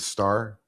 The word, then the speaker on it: Stahr: Okay, so my wrestling name was David Starr. It's spelled Stahr, and it's a play on the Star of David.